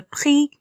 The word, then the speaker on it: prix: Le prix. X à la fin ne se lit pas.